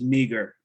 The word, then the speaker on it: meager: This one is meager. I know it has this one, EA, it's pronounced me still. It's called a diphthong, so two vowels make it E, meager.